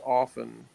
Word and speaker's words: often: know that the word often the T is silent that's what I know